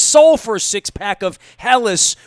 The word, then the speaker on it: Helles: for a six-pack of Helles, which we pronounced Hells.